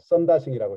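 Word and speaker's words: Sundar Singh: 그 다음에 사두 순다르싱은 여러분 너무나 잘 아는 분이죠. 썬다싱이라고 일반적으로 발음을 하는데요.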